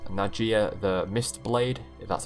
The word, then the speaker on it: Nadjia: ven fear now we have the character called nadjia the mist blade that's how you pronounce it and the reason for this is